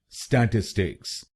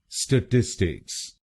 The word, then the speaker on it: statistics: और आप ये ध्यान में रखिए कि आपको दूसरे शब्दांश पर यानी TIS पर जोर डालना है। स्टैटिस्टिक्स, स्टैटिस्टिक्स। गलत प्रोनाउंसिएशन में हम पहले शब्दांश पर यानी STA पर जोर डालते हैं।